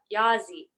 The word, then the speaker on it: Yazzie: now it has become yeah yahzee that's how they say it and Nez is a